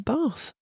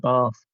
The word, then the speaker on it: Bath: I said Bath and you said Bath. But I guess Bath is correct because it's in the south.